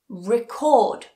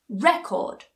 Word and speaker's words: record: syllable so this means if you get words that are spelled exactly the same but they perhaps have a noun and a verb form we change the stress we change the pronunciation